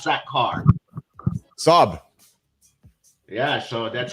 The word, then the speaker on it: Saab: Saab. Yeah. So, that's how my name is pronounced. S. Like mom. The way you pronounce mom the right way.